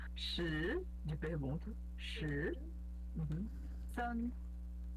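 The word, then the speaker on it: 三: San, que é o primeiro tom.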